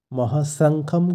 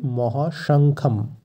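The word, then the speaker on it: মহাশঙ্খম্: সবে সন্তু নয় মহাশঙ্খম মহাসংখ্যম কিন্তু ভুল উচ্চারণ সঠিক উচ্চারণ হবে মহাশঙ্খম এই শব্দটির অর্থ বিশাল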